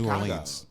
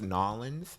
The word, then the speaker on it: New Orleans: Foods, they were like, it's pronounced Nolans. So. Oh, yeah, okay. That's how you pronounce it when you have the terrible accent. Yeah. But, yeah, if you're an English speaking person, you say New Orleans.